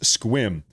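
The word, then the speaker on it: Sequim: It's pronounced squim.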